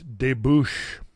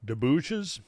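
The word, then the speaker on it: débouché: Deouches. I guess that's it. It done it done debushes here from the from the river among from the mountains. Uh, no, it's a French term.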